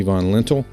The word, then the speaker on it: Von Lintel: von lentil who is an author professor and has an